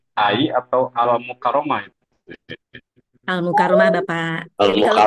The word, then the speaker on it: Al-Mukarramah: Yang saya hormati Ibu narasumber, itu dibacanya AI atau Al-Mukarramah itu.